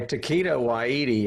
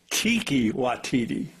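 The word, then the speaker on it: Taika Waititi: Anyway, Taquito Witi or however you pronounce his name. Kiwati. What is it? It's Tiki Watiti.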